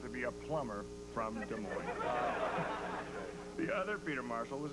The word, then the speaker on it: Des Moines: Our booking department tracked him down in Des Moines, Iowa. The S is silent.